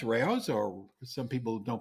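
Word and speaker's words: Rao's: R which is r a o apostrophe s Ros or some people don't pronounce it that way but that's the it's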